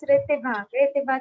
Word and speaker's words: Ritibha: So pronunciation, my name's pronunciation is Ritibha Chauhan. It's Ritibha Ritibha. Chauhan.